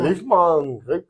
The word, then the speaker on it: Liefmans: LIEFMANS KRIEK BRUT (you can correct my pronounciation) How do we say that? LIF MON? LEEF MAAN? KREEK BROOT? Like German... KRIEK BRÜT. In fact, LIF MON KREEK BRÜT, It is Dutch language.